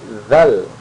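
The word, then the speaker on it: ذ: Jadi seperti huruf ta, abatata. Jadi posisi lidah di antara dua gigi. Nah, seperti seakan-akan digigit ya, seakan-akan digigit tapi tidak digigit.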